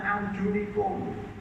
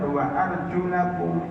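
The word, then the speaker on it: وَأَرْجُلَكُمْ: Makanya bacanya harus benar, wa arjulakum ilal ka'bain, dan cucilah kaki, kedua kaki kalian sampai mata kaki, bukan sampai lutut.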